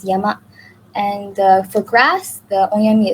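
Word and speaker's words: 山: And some examples include the character for mountain, where the onyomi is sang, and kuyomi is yama.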